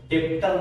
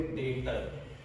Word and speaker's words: debtor: आप जब स्पेलिंग देख सकते हो, स्पेलिंग इसकी DEBTOR, इसको हम डेप्टर नहीं बोलेंगे, यहाँ पे साइलेंट है, इसको प्रोनाउंस करोगे डेटर।